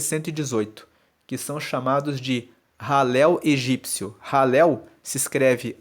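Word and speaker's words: Hallel: Salmos 113 a 118 que são chamados de ralel egípcio ralel se escreve h a l l e l e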